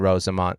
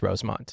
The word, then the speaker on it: Rosemont: downtown Chicago 15th and Rosamond Rosamond I added an extra syllable in there Rosemont I thought it was Rosemont it is Rosemont oh yeah you guys